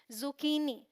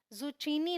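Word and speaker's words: zucchini: में यहां पर देखेंगे क्योंकि इसे हम क प्रोनाउंस करेंगे तो यह है जुकनी जुचीनी नहीं बोलना है जुकनी ऑलराइट ध्यान रखिएगा फिर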